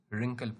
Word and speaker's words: wrinkle: When we read W in column 3, it has no sound. यहाँ पे W हम लोग साउंड नहीं देते हैं, मिट कर देते हैं, wrinkle पढ़ते हैं. Wriggle, right. W is silent.